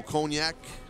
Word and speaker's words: cognac: special drink a little cognac i believe it's pronounced cognac all right where i'm from it's cognac because i know a lot of french people but i digress a lot